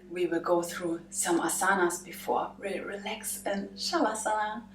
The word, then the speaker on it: asana: you might wonder why sometimes I drop the a at the end and sometimes not well that's how the Indians do it it's written suasana but